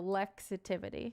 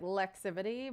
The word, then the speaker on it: Lexitivity: It's like Lexi and then positivity. So lexitivity. That's how you would pronounce it. Some people say like lexivity, but that's not it.